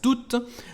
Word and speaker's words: tout: J'ai pris tout l'argent. L'argent en francés aquí es masculino. Así que la forma normal es usar tú y claro que no se pronuncia la T final.